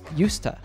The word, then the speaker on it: used to: out the pronunciation here we say yusta and it doesn't matter if the sentence is in the affirmative negative or interrogative form the sound is the same let's practice I used